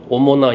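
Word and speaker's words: Omona: 알파벳으로 오모나 양조.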